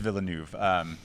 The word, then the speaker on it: Villeneuve: Yeah, Denis Villeneuve, I think is how I you believe actually it is pronounce Villeneuve. it. But it is Villeneuve.